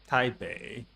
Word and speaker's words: Taipei: Taipei. Remember that without the letter I, the letter E was pronounced uh.